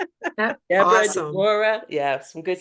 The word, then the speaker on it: Deborah: It's Deborah. Deborah, Awesome. Deborah. Yeah, some good stuff. Yes. It's my middle name, so I pronounce it the way the Jewish people do.